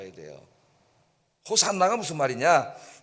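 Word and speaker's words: Hosanna: 그렇게 읽듯이 호시아 지금 우리를 구원해 주세요라고 하는이 구약의 기도인데이 기도를 헬라어로 바꾸면은 발음할 때 호산나라고요. 호산나 그래서 호산나 찬송을 불렀어요.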